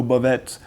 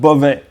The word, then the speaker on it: Bovet: Okay, next one is quite easy, Beauvais, and here again the T is silent, so no Beauvais, just Beauvais.